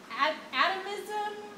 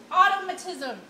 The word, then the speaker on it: automatism: no joke at wait I'm probably saying it wrong I think it's like atomism automatism automatism right so people will use